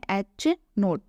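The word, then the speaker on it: H₀: denote किया जाता है और इसका उच्चारण है h नोट वैकल्पिक परिकल्पना शून्य परिकल्पना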